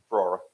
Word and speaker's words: Ferrara: radios for the 2025, is it Fiera or how you pronounce it? Ferrara.